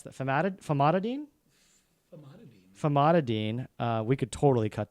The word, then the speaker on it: Famotidine: It's famatid. How do you pronounce that? Famotidine.